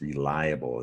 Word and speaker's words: reliable: in the top word so it's not real able its reliable as an extra syllable there and let's look at